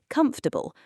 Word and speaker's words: comfortable: Most learners say comforels equally stressed. But native speakers almost always say comfortable, three syllables, with the middle syllable nearly disappearing.